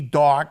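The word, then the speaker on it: Dawg: Hey, Mikey, the Doghouse Rescuers, and it's spelled D-A-W-G, dog, so I can actually pronounce it like that.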